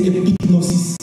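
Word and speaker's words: epignosis: La deuxième, c'est épignosis.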